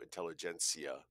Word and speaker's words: intelligentsia: The backwards R, now it's not like I know Cyrillic a lot, but the backwards R in Cyrillic is pronounced ia, so intelligentsia.